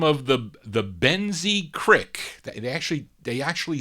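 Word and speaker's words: Boenzee Cryque: en dash z ee space c RI CK Ben Z Creek that's how you pronounce it but anyway they have this single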